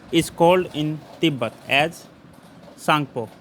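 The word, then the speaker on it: Tsangpo: सांगपो। T silent होता है इसमें, सांगपो बोलते हैं।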